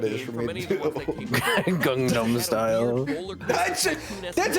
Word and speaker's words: Gangnam Style: Gangnam style.